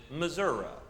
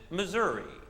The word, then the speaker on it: Missouri: wrote in an essay, there are 3 proper ways to pronounce my home state. If you are born in my state, you pronounce it Missouri. If you are not born in my state, you pronounce it Missouri. But if you are born in my state and have to live your entire life in my state, you pronounce it misery.